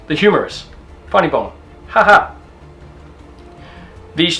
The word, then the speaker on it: humerus: to your elbow okay this is called your humerus okay humerus but it's not you know h-u-m-o-r-m-o-u-r